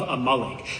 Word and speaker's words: Amalek: It's not Amalik. It's a malik.